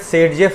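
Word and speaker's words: Zaitsev: Observed bye Russian chemist Alexander जेटसेव, ठीक है ना। NCERT की ही लाइन है बेटा, ठीक है, अलेक्जेंडर, ठीक है ना। यहाँ पास जेटसेव, ऑल्सो प्रोनाउंस एट सेडजेफ रूल। इसी को क्या कहा जाता है, सेडजेफ रूल कहा जाता है, ठीक है ना।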